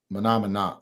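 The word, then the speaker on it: Mah Nà Mah Nà: Monomina. That's how you say it.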